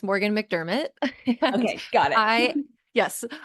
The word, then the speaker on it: MacDermott: yeah absolutely yes so really close on the pronunciation it's Morgan McDermot okay got it I yes I am a